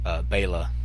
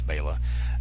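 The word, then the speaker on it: Béla: which and I loved Beyla which I know a lot of people call him Bela but I think it's nice to pronounce Bayla that that I'm a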